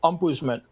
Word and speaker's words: ombudsman: That's a Danish invention, by the way. That's why you can't pronounce it correctly. It's ombudsman, as if that's hard.